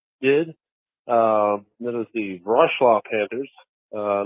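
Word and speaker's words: Wrocław: l a w but the W's are like a V so it's brl brl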